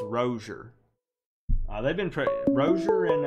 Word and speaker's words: Rozier: is starting let me we've all been saying it wrong the announcers called him rosier now on it's rosier they've been tricked brochure